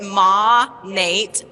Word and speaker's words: Monet: to figure out how to say the name Monet correctly I learned when I went to Miami Louisa taught me how to say it Ma Nate modern nature so we finally